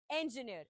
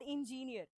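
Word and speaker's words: engineer: सो, the right pronunciation for this word is इंजीनियर। इट्स नॉट इंजीनियर।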